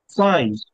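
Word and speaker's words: fie: ফাই, ইউ আর so chip.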